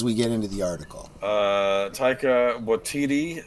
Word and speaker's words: Taika: So, okay, I keep calling him Tycho. Is that how you pronounce his name? Is it Taika? I think it's Taika.